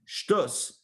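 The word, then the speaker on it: שטות: It means shtut is, or in Ashkenazic pronunciation, shtus. Shtut means doing something foolish, doing something silly, doing something irrational.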